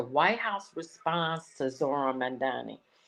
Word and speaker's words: Mamdani: White House response to Zohran Mamdani. Trump's administration mispronunciation of his name in an online video. The House Secretary referred to him as Zandani and a known communist.